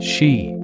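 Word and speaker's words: sídhe: Sometimes the other world is underground in the hills, the fairy mounds, the ancient burial mounds called city pronounced she that dot the Irish landscape.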